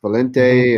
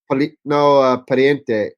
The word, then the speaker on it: Pariente: These new kids, Valente and Valente is WRC now. Oh no, I'm sorry. I always say it wrong. Polito. Pariente. Pariente. Daniel and Adrian.